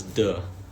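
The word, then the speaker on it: 德: It's duh. So d e kind of pronounced as if it's d uh duh.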